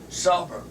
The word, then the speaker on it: Sarver: Sarver. It's almost like Savoy. Almost. Sarver. Except for it's not.